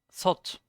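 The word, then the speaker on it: 셋: individual word is not some. It's sot, ha sot, or yeah, sot. But because there's myong afterwards, it's som. It gets pronounced as som myong instead of sot because of the m afterwards, and that means we have 3 friends.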